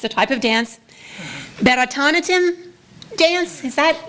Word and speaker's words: Bharatanatyam: a type of dance, Bharatanatyam dance? Is that, how do you say that, Doctor? Bharatnatyam. Bharatanatyam. Bharatnatyam. Bharatnatyam. Natyam means dance.